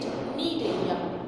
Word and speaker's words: Cnidaria: Here C is silent. We will pronunciate it Cnidaria.